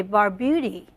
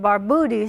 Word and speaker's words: Barbutti: going to say I used to say Bar Beauty yeah that's correct American something I read that kind of said baroody so I I kind